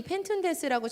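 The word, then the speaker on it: πενθοῦντες: 보시면요, 펜툰테스인데요, 여기가 툰이요, th 발음이에요. 그래서 펜툰테스 뭐 이렇게 됩니다. 그런데 이 펜툰테스라고 처음 쓰여져 있는 이 단어가요, 사실은 이 펜툰테스의 동사의 원형인 펜테오에서 온 유래된 말입니다.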